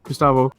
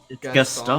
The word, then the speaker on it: Gaston: Okay, how about what if you saw Gustavo? From what? Am I saying his name wrong? I feel like I'm thinking of the wrong person. Gaston.